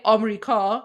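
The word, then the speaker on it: آمریکا: In English it's America, that's four syllables. But in Persian, we say Amerika, which is three syllables.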